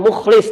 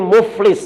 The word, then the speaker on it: muflis: Bukan mukhlis, tapi muflis, Bu. Ya, makanya pentingnya orang bisa baca Quran, bisa membedakan mana huruf Hamzah itu penting, mana huruf Al-Quran hizaiyah itu penting. Karena kita baca Quran, salah pengucapannya artinya salah. Mukhlis, orang yang ikhlas. Muflis pakai fa, orang yang bangkrut, Bu.